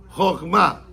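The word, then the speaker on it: חכמה: Porque para decir sabiduría tiene que decir, no en hebreo, Jochma, no Jochma, no, Jochma, con acento en la última A. Jochma.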